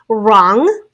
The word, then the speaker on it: wrong: It is the R sound at the beginning of a word, sometimes spelled with a silent W. So silent W and then an R. Wrong, W-R-O-N-G.